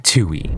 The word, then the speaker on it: Tui: nightmare Critter lineup being Tui as you guys can see this is tu and it also helps you say how to pronounce it being 2 e so you know pretty